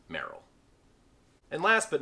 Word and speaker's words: Merrell: will be called tevas this brand has the unfortunate tendency to be called a mushroom people pronounce it morel but it is actually pronounced merrell and last but not